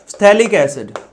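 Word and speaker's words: phthalic: थैलिक एसिड। थैलिक एसिड। कई लोग बोलते हैं कि इसमें जो पीए होता है वो साइलेंट होता है। ठीक है? सो यहां थैलिक एसिड्थिक एसिड भी इसको कह सकते हो।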